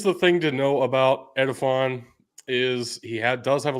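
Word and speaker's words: Edefuan: I want you to pronounce this name, Tug. Edifon Ulofashio.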